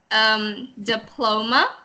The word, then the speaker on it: diploma: so two other things diploma the accent sorry the accent is on the second syllable so diploma diploma okay